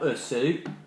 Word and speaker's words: Osu: pronounced uh it's spell usu o s u but we pronounce it as us not o double s like that eat your food us